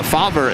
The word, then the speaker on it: Favre: No, Fabra is the correct way to say it.